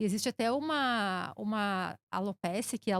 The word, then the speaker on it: alopecia: E existe até uma alopecia, que a alopecia é a tradução para queda de cabelo, nome